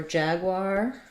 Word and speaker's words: Jaguar: video about Jaguar so for Jaguar think of it as first syllable stress Jag uar think about the word R and then put a w on it so even though this looks like the word war with an or sound you want the r diphthong Jaguar for leopard I may